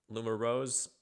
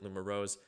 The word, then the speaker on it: LUMUROZE: So the name of the group is uh Lumar Rose is how I'm going to pronounce it. Lum Rose.